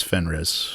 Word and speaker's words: Fenris: The pronunciation, it is Fenris.